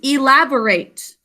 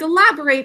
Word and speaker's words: elaborate: Next is elaborate. Elaborate means add more detail to, like elaborate on your story. Or we can pronounce it a little differently when we use it as an adjective, like the elaborate chandelier in the great hall.